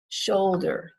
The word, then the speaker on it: shoulder: so the word shoulder shoulder this is my shoulder or there's a shoulder on the edge of the road shoulder is two syllables and we stress the first syllable shoulder not shoulder shoulder in the word enjoy